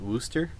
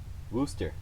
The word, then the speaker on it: Worcester: Do you pronounce that Worcester?